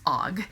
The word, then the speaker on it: AUGH: expletives were, so I would just use OG, and OG is actually spelled AUGH.